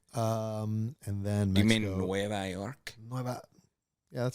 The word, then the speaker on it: Nueva York: You mean Nueva York? Yeah, that's how you say it, right? Yeah, it is. Why don't you learn your Los culture? Mermen. I almost said Nueva Yorka. It's not Yorka.